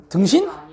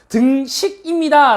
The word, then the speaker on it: 등식: 등신? 등신이라고 하면 안 됩니다. 발음 똑바로 해주세요. 등식입니다 라고 얘기를 해야 되지.